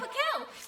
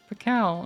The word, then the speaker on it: Pacal: I'm Pakel. You always got me in your corner. Pacal, okay, so it's the hard C. I pronounced it wrong the first time.